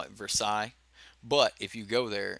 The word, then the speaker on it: Versailles: gonna get me already I'm gonna call it Versailles but if you go there it's called Versailles Versailles Kentucky but it's word is not pronounced for sales it's Versailles but whatever You Know Who am I Who